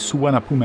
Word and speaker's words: Suvarnabhumi: For those unfamiliar with Suvarnabhumi Airport, yes, that's the way to pronounce it.